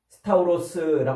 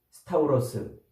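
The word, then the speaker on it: σταυρός: 열십자 그래서 십자가라고 번역하지만 이것은 스트라스타 스타우로스 이렇게 이제 발음을 해요 헬라어로는 스타우로스 요게 심겨진 기둥이라는 뜻이에요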